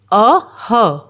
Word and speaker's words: अः: अ ह अः अ स्वर और विसर्ग की ध्वनि कैसी हुई? ह दोनों को मिला के कैसा साउंड आया? कैसी ध्वनि आई? अह।